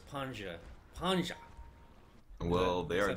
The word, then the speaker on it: Panzer: Panja. Panja? Pretend that you have a German accent. I want to make it Swedish. Panja.